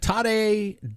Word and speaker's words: Tadej: Tadej does rhyme with bad day.